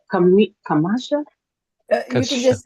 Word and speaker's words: Kshama: Kami Kamasha. You can just You can just say Shama just Thank you. Thank you. Pretend the K doesn't exist.